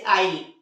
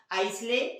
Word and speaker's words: isle: तो इस तरह से इन्हें हम लोग आइसले या आइसलैंड नहीं पढ़ते, बल्कि क्या पढ़ते हैं? आइलैंड और आई। तो एस कहाँ साइलेंट दिखा आपको? आई और एल के बीच आने पर, है ना।